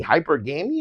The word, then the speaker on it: hypergamy: Hypergamy is what it's called. That's how you pronounce it?